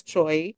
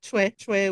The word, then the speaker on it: Choi: ang spelling niya choy so usually Americans they say it as choy pero I think Korean say na parang chue chwe chik oh Okay so yun